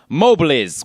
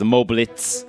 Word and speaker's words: Mobliz: We have Mobliz, which I actually think I was the only one who ever mistakenly pronounced as Moblitz, like it has a T in there.